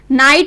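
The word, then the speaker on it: night: जैसे कि इसको हम प्रोनाउंस करेंगे नाइट, NIT की आवाज आ रही है इसमें, इसको NIT साउंड बोला जा रहा है, मतलब कि नाइट।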